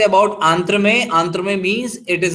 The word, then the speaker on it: entremets: आंथ्रोमेट्स। अब आप इसको प्रोनाउंस करते वक्त लास्ट का TS साइलेंट कर देंगे, तो कैसे बोलेंगे? आंत्र में। Very nice. सो लास्ट का T और S साइलेंट कर देना है।